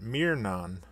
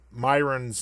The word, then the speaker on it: Myron: You obviously looked on a website, perhaps the Fallout Wiki, and saw the text that said Myron, M-Y-R-O-N, and you pronounced it Mirnon, which that isn't even how it's spelled, so I don't even know how you made that mistake.